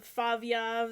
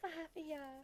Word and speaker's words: Favyav: But yeah, obviously you guys have heard from Favyav. That's the only way to pronounce it. It's not Flavia.